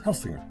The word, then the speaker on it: Helsinger: Is it an S or a Z sound? S. S, Helsinger. Yeah. Not Helsinger. Don't overthink it.